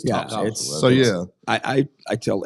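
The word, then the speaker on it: Topsail: it's Rich lands but it's not top sale it's top so yeah I I I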